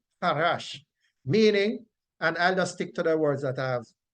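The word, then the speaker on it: חרש: And the word from which peace comes, that is transliterated to C-H-A-R-A-S-H, and it is pronounced harash, harash, harash, meaning, and I'll just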